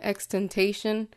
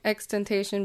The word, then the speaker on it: XXXTentacion: too hard to say I've always called him expectation until I figured out how you really pronounce it so I'm just gonna go back to doing that for just for